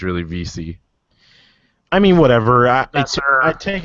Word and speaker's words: Vesey: That's how you pronounce it? Yeah, it's Veesy. I thought it was Vesey.